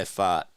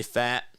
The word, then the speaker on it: Pfaadt: I go by pfaadt. That's what I saw in the pronunciation guide.